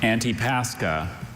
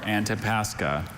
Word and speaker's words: Antipascha: Antipascha, or Antipascha.